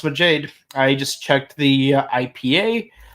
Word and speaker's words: Majade: Reen's Dawn transform maade and yes it is pronounced maade uh I I actually try looking into it uh let's let's see mud Jade uh let's take a look see yeah it's yeah it's spelled it's pronounced maade I just checked the IPA and IPA is